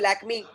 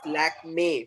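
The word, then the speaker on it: Lakmé: People say Lakme, galat. That's Lakme.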